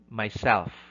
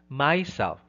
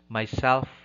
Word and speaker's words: myself: on the first syllable but it should be on the self that's why you say myself himself it's not myself or himself no that's wrong it should be myself himself item number 40 which